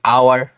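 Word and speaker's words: hour: এই যে আওয়ার, সো এই যে বেসিক্যালি আওয়ার, হ্যাঁ, এই এইচটা যখন আসতেছে এটা আমাদের সাইলেন্ট থাকতেছে, উজ্জ থাকতেছে, যেটাই বলি। সো যেহেতু সাইলেন্ট থাকতেছে, এখানে হচ্ছে এইচটা উচ্চারণ হচ্ছে না, সো আওয়ার হয়ে যাচ্ছে।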